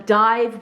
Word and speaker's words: DIIV: DIIV, which is spelled D-I-I-V, because there was already a band called DIIV with the regular spelling, so then they changed the spelling.